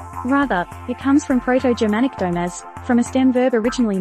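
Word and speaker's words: dōm: Rather, it comes from Proto-Germanic domes, from a stem verb originally meaning to place, to set. According to Etymonline, the dom suffix comes from the Old English word dom, pronounced like dome, which meant statute or judgment.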